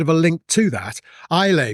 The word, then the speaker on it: Islay: Islay Blue, that was an island in Scotland. And again, another two-syllable.